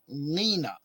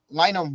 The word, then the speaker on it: Lina: they say Lina and Lina rhymes with something else something her little sister is trying to say so then it makes